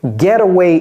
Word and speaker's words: getaway: Et vous voyez comment je prononce là? Getaway, getaway.